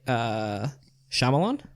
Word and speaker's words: Shyamalan: Night Shyamalan?